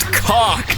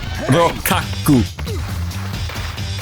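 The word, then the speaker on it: Rokkaku: It's pronounced cock. No, it's not. Rokaku. Yeah. I mean, I guess you're right. I guess it is pronounced Rokaku.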